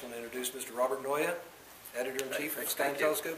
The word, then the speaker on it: Naeye: a Flemish and uh it's pronounced Noya like paranoia want some a mic